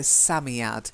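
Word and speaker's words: Psammead: asami ad Sammy odd I think it's a silent pay like Sam so Sammy out that's one word that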